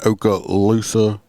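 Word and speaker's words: Okaloosa: a Florida depy in Oka Lusa I believe is how it's pronounced uh in Florida uh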